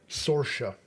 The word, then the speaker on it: Saoirse: Now, you know how you pronounce that? Saoirse. Saoirse?